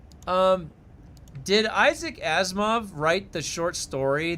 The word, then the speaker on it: Isaac: Isaiah. Oh, Isaac. Oh, Isaac. Did I say it wrong? Isaiah Azimov. What did I say? I said Isaac. Is it Isaiah? Is it really Isaiah? No, it's Isaac.